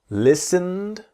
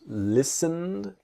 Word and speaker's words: listened: Listened. So the T is silent. Listened. And we imagine that the E. So the T and E in listened are silent.